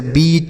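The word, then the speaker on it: beat: ठीक है, लेकिन अगर ई ए के केवल रहे, उसके साथ आर न रहे, तो हम बड़ी की मात्रा का उच्चारण करते हैं, जैसे बीट, week, meet, leak, mean.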